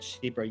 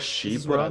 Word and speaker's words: Chypre: So if you smell my perfumes, for example, my Civet Chypre, you'll smell the fresh orange, you'll smell also